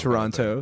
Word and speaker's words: Toronto: martial arts uh fights has Toronto and Calgary. Okay. So, is it like cuz I I guess like the like no one says the second T in Toronto. Toronto.